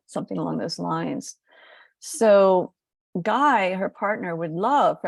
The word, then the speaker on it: Gui: other people about him I call him guy and I just spell it GUI because mother Gaia has